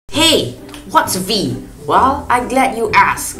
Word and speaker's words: Veee: And if you want to say my name, just say Veee.